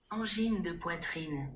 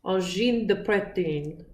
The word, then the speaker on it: Angine de Poitrine: So, this is how it's pronounced. Angine de poitrine. Yes. Angine de poitrine.